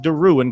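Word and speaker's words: Deroun: So, Trey Duan is spelled D E R O U N, pronounced Duin. Got a little bit of a French uh thing going on there.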